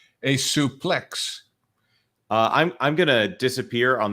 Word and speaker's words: suplex: That interview was a suplex to Disney Star Wars. Marvin, is it suplex or suplex? Suplex. Actually, it used to be pronounced supplé. There is your random wrestling factoid for the night.